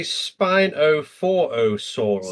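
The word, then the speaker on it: Spinophorosaurus: Let me look up. Spinophosaurus. Spanof. Oh, they say Spinoforosaurus. Spinophorosaur. Yeah, Spinophor. Okay, let's go.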